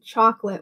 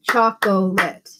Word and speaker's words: chocolate: Some, a lot of people, even though we say chocolate with two syllables, a lot of people will say chocolate.